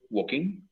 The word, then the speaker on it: walking: Recordemos, la L en esta palabra no se pronuncia. Walking.